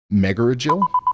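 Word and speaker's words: Megargel: of Texas right now there's a town called Mega Jael m e g a r g l what's the correct way to pronounce that meel is pronounced meil I don't even think I don't even think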